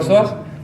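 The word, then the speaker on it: psoas: es como escribir soas yo cuando digo el músculo soas no digo soas cierto digo soas pero al escribirlo se escribe p soas esto se dicen terigios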